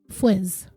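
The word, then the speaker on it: Fuisz: looked it up and it looks like it's pronounced Fizz after I get through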